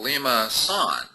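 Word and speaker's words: limaçon: cardioid or it's called a limacon curve it's pronounced actually uh liaan no Lima son liaan curve okay so let's take our fourth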